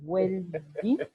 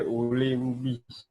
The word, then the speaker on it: Oulembi: Est-ce que c'est Welby? Parce que moi, j'ai eu du mal, hein, franchement. Oui. C'est Oulembi. Attends. Oulembi. Tu peux épeler? C'est W-L-E-N-G-B-I. Oui, Oulembi. Donc, c'est en baoulé, Oulembi.